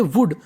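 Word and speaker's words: would: और यहीं पर हमारा अगर डब्लू ओ यू एल डी लिखा मिल जाता तो उसे पढ़ते वुड अगर एस एच ओ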